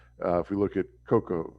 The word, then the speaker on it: cacao: If we look at cocoa or cacao, is how I've heard the actual pronunciation, but cocoa.